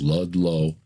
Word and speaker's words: Ludlow: Look up Bill Ludlow, just like it's spelled or just like it sounds, Ludlow.